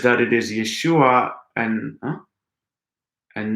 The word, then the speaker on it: Yeshua: and from yeshua you also get the name yeshua which is how you would say the name